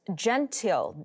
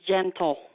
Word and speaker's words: Gentle: All right, and on the lines we have Miss Gentile. Am I pronouncing your name correctly? It's Mrs. Gentle. Mrs. Just like Gentle. the word.